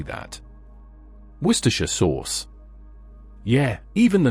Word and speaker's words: Worcestershire: And before we go any further, it's pronounced Worcestershire, not Worcester.